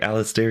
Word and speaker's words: Alasdair: like do you like Alistair Yuing? Is his name really Alistair or you doing?" Yeah. And it's spelled A L A S D A I R.